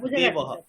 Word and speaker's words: দেবৌ: স্যার ঠিক আছে এবার দেবহ দেবহটা আমি কি উচ্চার করবো দেবহ দেবহ দেবহ দেবহ ঠিক আছে দেবহ দেবহ দেবৌ এখানে কিন্তু দেখুন দুটোই দীর্ঘ তাইতো একারটাও দীর্ঘ ঔকারটাও দীর্ঘ তাহলে দেবৌ দেব দেবৌ টা